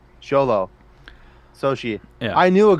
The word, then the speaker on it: Xolo: and if I remember correctly he said it's pronounced sholo yeah which makes sense because uh so she